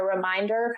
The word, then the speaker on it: Remind Her: So I actually even wasn't sure how I wanted to pronounce it, but I found myself just saying the Reminder podcast. And then the H is just kind of inserted in there.